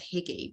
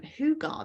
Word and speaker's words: Hygge: tell me differently because I would have always said Hygge, but it's Hugar, the Hugar home. So I don't know if there's any Scandinavian experts on the call, help me out. But the Hugar home, this is a Scandinavian idea.